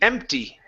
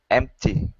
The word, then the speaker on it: empty: okay give me that e with a tee empty empty there you go good T sound the block